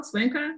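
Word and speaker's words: Cuenca: leaders who gathered in the spanish city of suenca am i pronouncing it well suenka yes and the end of 2019 and you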